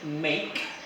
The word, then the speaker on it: make: In this word, make, the E is silent.